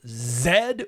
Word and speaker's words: Z: Next week, we are doing Costa Gavras, the filmmaker most famous for Zed or Z, depending on how you want to pronounce it.